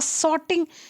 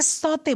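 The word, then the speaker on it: sauté: streaming है सोर्टिंग है तो जिसको हम लोग सोते बोलते हैं सोते कभी भी अगर आप शब्द का उच्चारण करें किसी के सामने होटल पे जाएं मोटर पे जाएं रेस्टोरेंट में जाए रिसॉर्ट में जाए कहीं भी जाए तो वो सोर्टिंग नहीं बोलेंगे सोते बोलेंगे क्या बोलेंगे सोते मुझे सोते वेजिटेबल चाहिए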